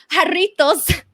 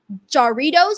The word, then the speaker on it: Jarritos: don't know, on Fightful, Sean Ross Sapp pronounced jarritos as Jarritos or Doritos. I forgot what he said, but it was like Doritos, but it's actually jarritos.